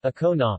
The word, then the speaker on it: Ancona: and Kona Italian pronunciation okona listened Greek Anton Anton elbow is a city